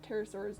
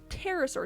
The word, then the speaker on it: pterosaur: oh it's just a it's just a silent p um english just has a lot of those for some reason i mean i i guess technically you do sort of half pronounce it because it's not just a pterosaur it's a pterosaur that's a bad example it just it just disappears it just goes somewhere i don't know where it goes maybe it goes on